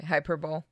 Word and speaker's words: hyperbole: Say hyperbole.